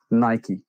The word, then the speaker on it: Nike: fun fact it's called it is definitely Nike after the Greek god so you can spell it like you want to spell it but Phil Knight named it after the Greek god Nike yeah so when you say